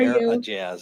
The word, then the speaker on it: Aejaz: a physician Dr Omare a a how are AZ I believe is the pronunciation 37y old Rochester Hill